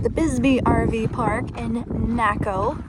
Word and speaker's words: Naco: We are staying here at the Bisby RV park in Naco, Rhymes with Taco, Arizona.